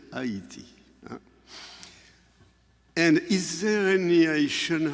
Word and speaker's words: Haiti: I know you pronounce Haiti, Haiti. In French, we say Haiti.